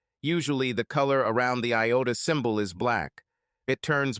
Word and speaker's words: iota: Vic laughed and said, dude is the Greek letter iota and is usually pronounced iota.